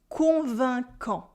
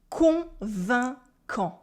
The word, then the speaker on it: convaincant: Try to concentrate on the nasal sounds. Convaincant. Convaincant. Convaincant.